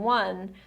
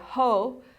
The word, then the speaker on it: ho: So you don't say ho, you say O.